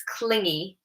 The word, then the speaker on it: clingy: of this one cuz often my students will pronounce it like clingy. Um but watch the G is like g. So, it's clingy.